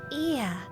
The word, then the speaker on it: Ea: When the vibration of vocal folds was still required to convey our thoughts and intention, ear, I believe, was the pronunciation used when referring to our people.